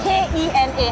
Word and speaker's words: Kena: What's Kena Saman? K-E-N-A. How do you pronounce it? Kena. Kena Saman.